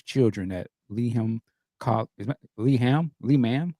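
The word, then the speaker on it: Lehman: at Lee is leham Le man how do you say that I say lean Leman okay at Leman colleges Center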